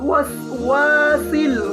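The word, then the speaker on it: ٱلْوَسْوَاسِ: কুল আউযু বি রাব্বিন নাস, মালিকিন নাস, ইলাহিন নাস, মিন শাররিল ওয়াসওয়াসিল খান্নাস।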